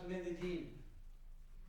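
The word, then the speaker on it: Medellín: I pronounce Medellin.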